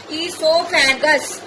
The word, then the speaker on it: esophagus: O is silent. Esophagus.